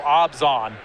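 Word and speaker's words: Abzan: amazon it is um it's actually more oh more of a no sound it feels like there should be an h in there somewhere maybe i don't evan erwin told me that it's pronounced it rhymes with rob gone so obzan okay that's what he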